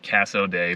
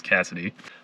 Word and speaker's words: Cassoday: are in cassidy kansas i wanted to be sure how to pronounce that because i think only about 100 people live here and i was pronouncing it casso day but i asked somebody here and they said it was cassidy i'm a little bit